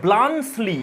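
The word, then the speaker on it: Bluntschli: তো ফ্রেন্ডস, অনেকে এই নামটার উচ্চারণ করে ব্লাঞ্চলি, কিন্তু এটা উচ্চারণ হবে না, এর উচ্চারণ হবে ব্লাঞ্চলি, এরকম সাউন্ড হবে। সুইস নাম একটা।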